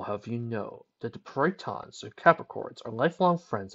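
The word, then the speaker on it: peryton: Okay, in case any of you guys are wondering, if you've never heard of a Pryton, which is spelled P-E-R-Y-T-O-N, they're these mythological hybrid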